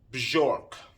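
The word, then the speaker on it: Björk: me on to bjork i say bjork i don't know why it's maybe it's a new york thing i but the name is uh correct way i believe to pronounce pronounce it is bjork which is strange doesn't roll off the tongue that well but bjork was my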